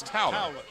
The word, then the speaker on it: Towler: next let's Billy Towler I said told her but it's towel whatever you say he's